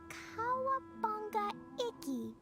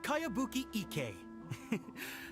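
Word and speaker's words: Kayabuki Ikkei: By Kawabunga Iki. is a really strange name. Who's this Cowabunga? It's pronounced Kayabuki Ike.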